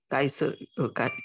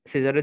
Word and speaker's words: Caesar: কাইসার। কাইসার, জি স্যার। হ্যাঁ, কাইসার না? কাইসার, জি স্যার। সিজার। Julius সিজার আছে না, বিখ্যাত শাসক, তার নামের স্পেলিং হচ্ছে কিন্তু এটা CAESAR, সিজার। ওকে, এটা কাইসার না।